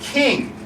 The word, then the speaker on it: Ching: Ching okay it's not chinging the rapper it's actually pronounced King and this is important